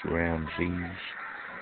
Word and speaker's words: Ramses: That's pronounced Ramses. Like the Pharaoh, Ramses, that kind of shit.